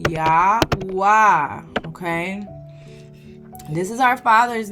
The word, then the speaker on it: Yahuah: Well, I didn't even spell it right. Yahwa. Okay? This is our father's name. Okay. His name is Yahoo A.